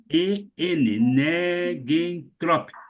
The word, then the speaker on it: negentrópico: Esse negentrópico não é assim que se escreve, tá? É negen, E-N-E-G-U-E-N, negentrópico. O que quer dizer, gente?